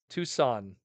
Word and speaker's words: Tucson: there yet but uh two's gone Tucson okay Tucson Arizona that that's probably the best way to say it Tucson now I know